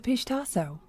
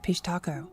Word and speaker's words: pishtaco: The pistaso or as some pronounce it pishaco is one of the most enduring and terrifying figures in Indian folklore.